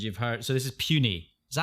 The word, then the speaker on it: Puni: So this is Puny. Is that how you say it? I think so. Puny? And that's Puni, not like saying something's puny, like it's weak.